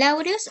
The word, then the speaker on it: aureus: Ok, ya nada más, el aureus se pronuncia con el acento en la A, de aureus, y el saprophyticus, aquí